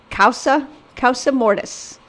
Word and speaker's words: causa mortis: have two types of inter vivos and it's pronounced causa causa mortis and sometimes it's mortise cuffs us it's written